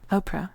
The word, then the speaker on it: Oprah: Oprah, could you spell that, please? He said. I did. O-P-R-A-H, and the H is silent, I explained.